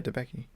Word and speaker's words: Debicki: You got John David Washington, Robert Pattinson, Elizabeth Debicki. Debicki? Yeah, Debicki.